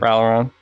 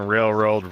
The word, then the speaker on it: Ralliron: Ralliron's fine. Ralliron. Okay. I've gotten railroad, railed iron. You fucking name it.